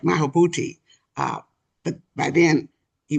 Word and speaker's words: Maulana Karenga: Haki, who, uh, let me say it right, Maulana Karenga.